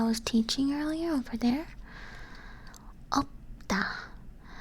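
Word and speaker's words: 없다: Opta. You don't pronounce the shit on this because it. You would pronounce the shit if you would say 없습니다.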